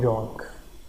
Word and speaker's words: Jung: Analytical psychology of Karl यंग। यहाँ पर Karl जंग लिखा हुआ है, लेकिन जब हम इसको प्रोनाउंस करेंगे तो हम कहेंगे कार्ल यंग।